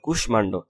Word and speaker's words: কুষ্মাণ্ড: তারপর কিছু সংস্কৃত শব্দে মফলা উচ্চারণ অবিকৃত থাকে, যেমন কুষ্মাণ্ড করিষ্কার কু তালিবাস ময়কর্মা দন্তান্ন ডৌকাণ্ড কুষ্মাণ্ড, তারপর হচ্ছে সুস্মিতা তালিবাস সু দন্তাস মরিষ্কার মি তেকাত্তা সুস্মিতা, ইত্যাদি।